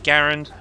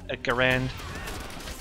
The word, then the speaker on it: Garand: a grand a girl because i pronounced that australian a garand technically it's garand but a grand a garand i'm sorry i'm sorry